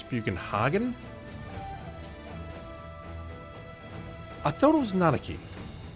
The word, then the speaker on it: Bugenhagen: thanks for keep so I've been pronouncing bugenhagen entirely wrong the entire time it's buan Haagen I thought it was